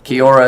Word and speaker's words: kia ora: And Blue Line Matter has, but I searched this up how to say hi in New Zealand, and it's how you say it, kia ora. Kia ora is how you say it.